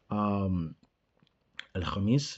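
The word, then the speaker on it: الخميس: I think I said khamis. It was actually khamis, right? I said khamis like in the beginning. Al khamis is the right way to say it.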